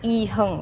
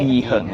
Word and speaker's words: IHERNG: And that's pronounced as Heng, right? Heng, yes.